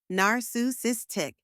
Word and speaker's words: narcissistic: it let's say it one last time together narus sis tick you got it thanks for watching say it